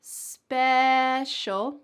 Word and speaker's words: special: Ooh, at the beginning of the first word, special, we have a short E, special. And at the beginning of the second word, we have an A sound, spatial. Let's put both of these words together in a challenge sentence.